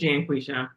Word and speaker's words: Janqueshia: Is it John V. first one or Janqueshia? I guess we have similar pronunciations. No, it's Janqueshia.